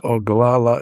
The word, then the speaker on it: Oglala: very well-known band of the Lakota can you spell that for me h u n k p a PA a that's pretty close oh galala is OG g l a l a h